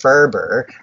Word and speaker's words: FRBR: When you talk about, you said FRBR, I hear it pronounced Ferber.